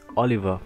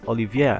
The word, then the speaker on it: Olivier: I always want, yeah, I always misread his name as Oliver, but it's Olivier, and that's just how they say it in the anime, so Olivier.